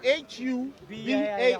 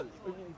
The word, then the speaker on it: Hubal: Yeah, under a word called Hubal. Yeah, it's spelled here H-U-B-A-L. It's not Hubal, it's Now, Habal.